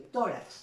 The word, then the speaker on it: tórax: ejemplo, el caso de tórax, ¿no? Tórax es una palabra que lleva la mayor intensidad en la penúltima sílaba y que termina en X, ¿no?